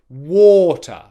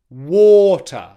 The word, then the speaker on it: water: word, that means that we've got the stress on the first syllable, war, and the second syllable is unstressed. So the correct pronunciation of the word with the right stress is water, water, water, water.